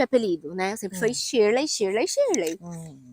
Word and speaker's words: Shirley: Então fica Shirurei. Fica uma pronúncia meio esquisita, né?